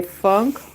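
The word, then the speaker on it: Phonk: P H O N K. Funk. Funk is how it's spelled.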